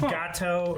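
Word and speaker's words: Geto: this yes him uh ghetto yes his name is it's like pronounced gato or spy isn't he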